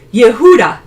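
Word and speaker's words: יהודה: is actually Judah or it's pronounced Yehuda in Hebrew but I think that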